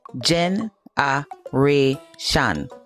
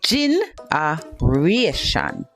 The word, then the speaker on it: generation: Okay, let's break down this pronunciation. Gen- a-ra-tion. Gen- a-ra-tion. Generation. And gin- a-ra-tion. Gin- a-ra-tion. Generation.